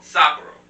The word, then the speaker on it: Sapporo: What's the correct pronunciation? Sapporo.